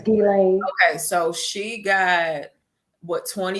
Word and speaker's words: Ghislaine: But it's Ghislaine. Her name is Ghislaine.